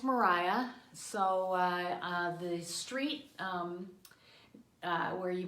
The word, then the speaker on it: Maria: And it is pronounced Mariah. So the street where you might say Maria Street, it's Mariah Street, named after Mariah.